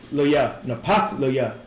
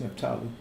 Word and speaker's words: Naphtali: Napathlaya. No, how you say that? That's Naphtali.